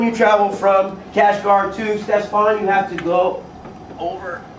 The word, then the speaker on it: Ctesiphon: It starts with a CT, but you pronounce it Ctesiphon. Say with me, please. Ctesiphon.